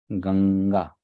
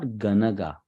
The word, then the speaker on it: Ganga: easy to pronounce so I'll give an example ganga right so you can hear that sound right it is not ganaga right it's not ganaga if it was just n there then that would be pronounced as ganaga but it is not ganaga it is Ganga so that Ang sound